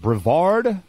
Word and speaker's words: Brevard: exercise science from and I might be mispronouncing is it Brevard it is yeah okay and that's where you live now right you're in Brevard North Carolina currently cool